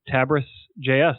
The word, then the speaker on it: Tabris.js: So tell us about Tabris.js.